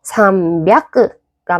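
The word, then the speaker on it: 三百: 이렇게 조금 더 편한 단어를 편하게 말하기 위해서 발음을 고쳐온 것이 기존에 있던 애들을 확 잡아버린 거죠. 그래서 삼비아크가 맞는 표현, 로비아크가 맞는 표현, 합비아크가 맞는 표현입니다.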